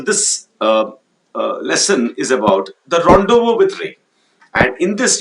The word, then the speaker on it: rendezvous: The spelling of rendezvous is Rendezvous, but its pronunciation is Rendezvous with Ray.